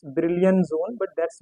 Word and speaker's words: Brillouin: In India, we say it's Brillouin zone, but that's not correct. It's a French name. So the exact pronunciation of this is Brillouin.